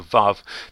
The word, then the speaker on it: Waw: W-A-W, which we would actually pronounce Vav, as though it were written V-A-V.